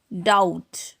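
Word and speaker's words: doubt: Next है date, डाउट। यहाँ पर बी जो है टी के पहले आया है, तो यहाँ पर बी साइलेंट होगा।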